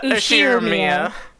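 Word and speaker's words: Ushiromiya: How do you pronounce my last name? Ushiramiya.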